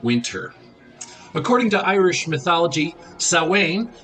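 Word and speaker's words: Samhain: what are the origins of Halloween or uh sawing which is how it's pronounced it's spelled uh s-a-m-h-a-i-n so and again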